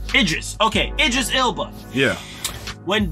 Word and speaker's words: Idris: Idris.